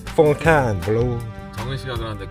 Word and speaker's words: Fontainebleau: 아, 발음 확인자. Fontaine은 영어고 프랑스 말로 Fontaine. Fontaine Blau.